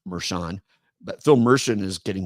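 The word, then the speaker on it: Mershon: goes something like this so now that Phil meren by the way my name is pronounced meran but Phil meren is getting ready to come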